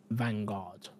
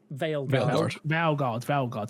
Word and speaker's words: Veilguard: passes in Dragon Age Vanguard. Am I saying that right? Vanguard? Veilguard. Thank you. I thought I said it wrong.